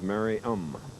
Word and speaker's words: Merriam: For years, I've been pronouncing their hometown differently from what it's really pronounced. Merriam, Kansas? It is Merriam.